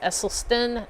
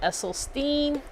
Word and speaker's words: Esselstyn: Plants Only Muncher said it's pronounced Esselstyn, not Esselstein.